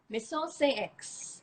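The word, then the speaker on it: Maison Saint Aix: So get you some X, and it's pronounced Maison Saint X. Maison Saint X. Because I learned that the X actually makes an S sound.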